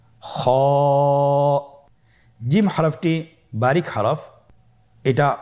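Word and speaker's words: خ: কিভাবে উচ্চারণ করতে হবে খ হরফটির মাখরাজ হল কন্ঠনালীর শেষ ভাগ হতে উচ্চারণ করতে হয়। কন্ঠনালীর শেষ ভাগ আপনারা আমার সাথে বলুন খ আবার বলুন খ মাশাল্লাহ আমরা তিনটি একই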